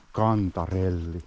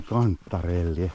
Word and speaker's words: kantarelli: Yes, the mushroom, "Kantarelli". But quite many people pronounce it like I do, "Kanttarelli". Maybe it's just this dialect-type form of expression.